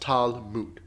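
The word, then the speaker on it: Talmud: speaking examples being entangled was spelled lmd but pronounced tal mood from bask tala muda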